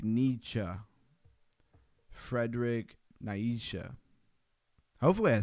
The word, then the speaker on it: Nietzsche: Society Accent telling me how to say it, like Nietzsche.